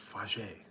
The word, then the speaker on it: Fage: It's pronounced Fage.